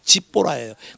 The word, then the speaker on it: 십보라: 우리말 성경은 십보라고 되는데 영어 발음은 지니까 집보라예요.